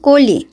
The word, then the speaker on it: কলি: এত বুঝায় বলি যে আমার নাম কুড়ি না আমার নাম কলি কিন্তু ওরা বলবে কুড়ি এই হচ্ছে উচ্চারণ নামের